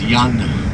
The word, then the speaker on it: Jan: As you heard Rudy, my name's Jan. Jan is the spelling and Jan is the pronunciation.